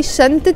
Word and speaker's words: شنطة: I'm pronouncing the T مربوطة. Why? Because it's followed by the word سفر, which is a noun. So now we have a noun plus noun. That's why we say شنطة سفر.